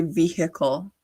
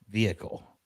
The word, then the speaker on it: vehicle: side note, how come Americans say vehicle? Vehicle. Vehicle. Vehicle. Why is How do the you H say it? pronounced vehicle? The H is silent in Canada.